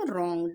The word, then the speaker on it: wrong: नहीं, ऐसा नहीं पढ़ेंगे हम लोग, इसे पढ़ेंगे हम रॉन्ग, WRONG, रॉन्ग पढ़ते हैं हम इसे, है ना, रॉन्ग। इसमें W साइलेंट होता है, ओके।